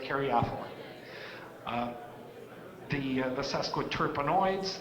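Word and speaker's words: caryophyllene: ethylene some people say Carrie ethylene some people say Carrie Eileen you say potato I say potato and I can argue about how we pronounce it I pronounce it Carrie offal the the SAS code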